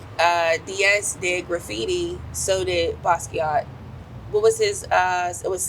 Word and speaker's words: Basquiat: And when I first seen, what's the correct, is it Basquiat? Yeah. Okay, I'm saying it correctly.